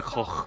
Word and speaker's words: Koch: I mean, although honestly, I mean, SummerSloth, even with this esports section, this is still better than the Koch Media one. It's pronounced Coke.